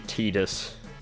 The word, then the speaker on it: Tidus: we do know that the pronunciation of titus is actually tidus un-ironic